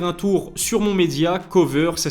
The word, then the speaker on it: Koveur: Je vous invite aussi à faire un tour sur mon média Cover, ça s'écrit K-O-V-E-U-R.